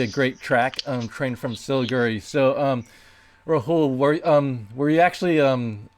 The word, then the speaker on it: Siliguri: And I am now going to play for you Train from Siliguri. Did I pronounce that right?